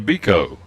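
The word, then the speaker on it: Beeco: inning for Aidan Biko b-e-e-c-o pronouncing phonetically Biko the third baseman for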